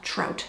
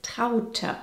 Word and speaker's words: Traute: You'd pronounce that trout, Americans, wouldn't you? Elk, wolf, trout. Hey, soon we can open our own mispronounced German names zoo. Similar to Elke, the correct way of saying this is Traute.